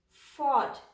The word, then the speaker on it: fought: is silent here caught fought gh is again silent fought thought the art thought